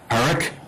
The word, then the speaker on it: Parikh: The affidavit of Clay Parikh, is that how I pronounce it? Yes, Your Honor.